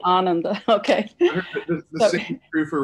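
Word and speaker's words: ānanda: of sanskrit you know we put our emphasis on the wrong uh um verb i mean um yeah the syllable ananda it's actually ananda okay the same three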